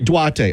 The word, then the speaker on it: Duarte: Am I pronouncing his first name right? Duarte. Duarte.